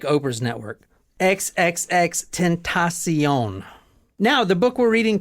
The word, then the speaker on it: XXXTentacion: see you SE e on like Oprah's network XXX tentasion now the book we're reading tonight is from